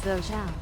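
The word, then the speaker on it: Thổ Chu: The first way is Tho Chua, which is very common, while the second way is Tho Chau. So what is the accurate name of this island? N. Over time, the pronunciation in the south and north has changed and become inconsistent. The accurate name of the island should be Tho Chau.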